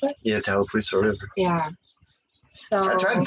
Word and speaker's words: Tallapoosa: Is that how you pronounce it? Yeah, Tallapoosa River.